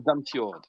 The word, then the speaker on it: Damsgaard: Ah, Ça se prononce Damsgaard.